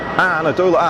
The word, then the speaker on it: Anadolu: Anadolu, that's the pronunciation, thank you.